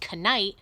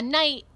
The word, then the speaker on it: knight: this word night okay this word night starts with a K I know it doesn't read Kenai right that's silly just like there were no and knowledge the K is silent a knight is a soldier that